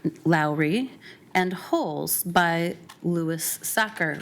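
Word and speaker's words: Sachar: and holes by Lewis soccer rhymes with cracker I had to look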